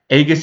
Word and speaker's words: Aegis: to mention what the Aegis trait does I'll try to pronounce it as Aegis because I do believe it's a hard G if you're new to